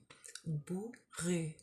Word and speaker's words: bourru: Bou, O and a U, ou, and then this R and a U is rue. Bourru. It's like when, because for English speakers it's often difficult to hear the difference between like the U sound and the OO sound.